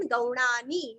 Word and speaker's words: गौणानि: नीरस्व नामानि नीरस्व गौणानि गा के ऊपर के दो मात्रा का उच्चारण गौणानि नीरस्व विख्यातानि वी के